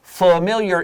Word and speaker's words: familiar: Now the word familiar, A 法短语 familiar is related to the word family, but the pronunciation is different. Family, of course we know is a short A. This is familiar.